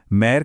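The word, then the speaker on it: mère: जब भी यह एक्सेंट दिखे तो इसका उच्चारण इंग्लिश के इएच जैसा होगा जैसे गेट या बेड में होता है।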